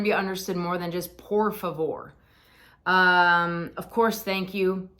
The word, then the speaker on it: por favor: to try saying again treat that r as a d said um please not por favor that's gonna be I